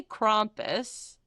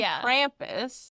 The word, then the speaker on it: Krampus: Well, the word is what? Germanic. So you're just pronouncing it the American way. Yeah, I'm pronouncing it like I'm from the northeast.